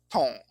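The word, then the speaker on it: 衕: If you've heard the sound of this combined character, tong, it will always have been in the two-syllable word hutong, meaning a small street, lane, or alley.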